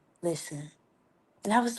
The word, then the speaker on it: Lizzen: way, because they like, I thought your name was Lizzen. I'm like, dang, I probably shouldn't put the Z's in there, but it's pronounced listen.